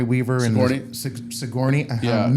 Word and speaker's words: Sigourney: I watched the first Signor Signori Weaver and Sigourney. I'm mispronouncing my name.